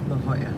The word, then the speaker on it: La Jolla: i'll drop you off what's it called it's pronounced la jolla it's right here thanks no knows who